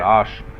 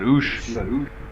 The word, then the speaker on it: Osh: I know I'd call it Osh. You got Oosh.